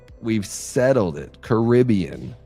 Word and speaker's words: Caribbean: Caribbean is the right way to say it.